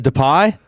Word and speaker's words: Depay: I like that you're getting some good Dutch pronunciation. Depay. Memphis. Memphis. Memphis. Depay.